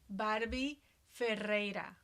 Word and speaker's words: Barbie Ferreira: and I'm going to let you pronounce her name, our Oh, lead actress, because yes. it's Her name is Barbie Ferreira.